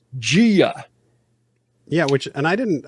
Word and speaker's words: Gia: in the first episode I heard someone pronounce that girl's name as jaia but now we find out in episode seven that it's Gia yeah which and I